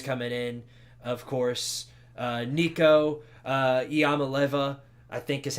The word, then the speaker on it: Iamaleava: Of course, Nico Iamaleava, I think is how you pronounce that. I'm pretty sure it's pronounced Iamaleava, like Iamaleava.